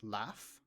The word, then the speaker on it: laugh: think of words like laugh. Laugh ends in gh, but actually the pronunciation is that of a f or box ends with an x, but the last sound you hear is s or face.